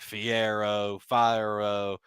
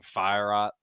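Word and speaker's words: Fiorot: I've heard people be like Fierro. I like saying Fierot. Fierot sounds good to me.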